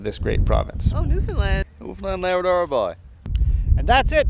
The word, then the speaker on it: Newfoundland: more than once that I have been maybe mispronouncing the name of this great province. Oh, Newfoundland. Newfoundland Labrador boy.